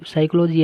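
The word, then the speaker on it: psychology: या फिर देखो साइकोलॉजी हम पी को पूर्णतः नकार देते हैं, और जी है यहाँ पे रिजाइन है, रिजिगन नहीं होगा बल्कि होगा रिजाइन।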